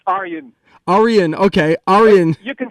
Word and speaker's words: Arjen: It's Arjen. Arjen, okay, Arjen. You can call me Arjen.